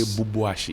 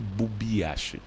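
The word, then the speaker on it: Bubiashie: People say Bubuashi. It's actually Bubiashi. Bubiashi. To wit what? Bu is whole. And the BB is small. So small holes.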